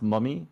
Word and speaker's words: mummAy: it and um it's my name is pronounced mummy the a is actually silent and it's just for looks equip it guys clip